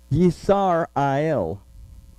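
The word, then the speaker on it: ישראל: This is also the root word of the name, and this is how we would actually pronounce it if we went by all the vowels, Yisar-ael, that may represent that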